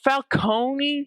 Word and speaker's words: Falcone: pieces of Batman media is fal cone because that is how it's supposed to be pronounced because uh because it kind of spells cone as in like an ice cream cone. But they have Falcone so that they can make it sound more Italian and fit in a